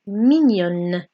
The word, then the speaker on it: mignonne: Okay, we're actually pronouncing the n sound. Okay, so let's go over this again. Mon lapin est mignon. Ma souris est mignonne.